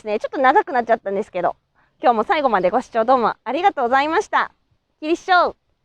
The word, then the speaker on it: Kinisou: But if you say it in the same way as my pronunciation, they will understand it. If you pronounce it a little longer like Mr. Chukwa, they will understand it even more.